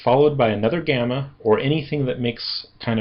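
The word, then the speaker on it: γάμμα: And it is normally like a a g kind of sound like in gone gg- gamma. However, in some cases, it will sound more like an n as an angel. N angel n.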